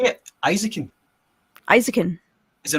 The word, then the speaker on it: Eizouken: did you say it isakin isakin is it not isakin isakin it's isakin right because that's how they pronounce it in the show yeah okay it's it's similar to Spanish pronunciation i a e o